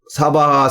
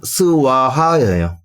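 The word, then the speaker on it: स्वाहा: 사바하 등등 있 이때 여기서이 바하가 산스크리트 원 발음으로는 스와하 그래서 시야 사바하 하모는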